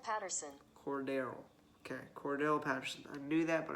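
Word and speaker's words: Cordarrelle: Alvin Kamara went for 50, and I always forget how to pronounce this. I think it's hold up. Cordell. No, wait. Hold up. Cordero Patterson. Cordero. Okay, Cordell Patterson.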